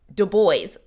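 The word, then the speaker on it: Du Bois: But yes, um his full name was William Edward Burgart Dubo and he was very clear that he wanted people to pronounce his name Dubo, not Dubois, which is interesting because um his father actually immigrated from Haiti.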